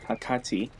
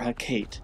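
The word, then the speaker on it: Hekate: to get the journal for Hakate, or Hakate. I want to say it's pronounced Kate.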